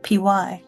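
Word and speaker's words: pyre: I thought that was like py p y r e. Yeah. Yeah. Yeah. Big bonfire kind of. It's weird that it's it rhymes with fire and it means fire.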